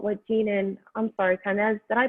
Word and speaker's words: Kainaz: Kind of just thinking about what Jean and, I'm sorry, Kainaz, did I pronounce that right? Kainaz, yeah. Kainaz, okay, good.